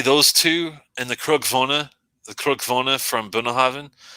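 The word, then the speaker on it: Cruach-Mhòna: I would say those two and the Krugvona from Bunnahaven. Krugvona, it's not spelled like it sounds, unfortunately.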